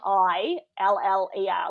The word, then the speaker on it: Triller: It's like Triller, like thriller, but Triller. Triller.